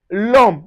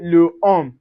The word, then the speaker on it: l'homme: L'homme, which means a demand. So, we say l'homme. We don't say le homme.